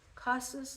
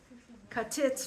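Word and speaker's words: כתית: Kasus lama'or. Crushed in order to light yourself. So how do you say kasus? Katit lama'or.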